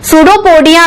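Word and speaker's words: pseudopodia: सूडोपोडिया में पी से start होता है पर पी साइलेंट होता है।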